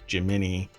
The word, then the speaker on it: Gemini: that's why I said not jimin as in Jiminy Cricket Gemini yeah I'll have to hunt down the the the thing cuz I don't recall where I heard it that it's supposed to be pronounced jimini um but yeah yeah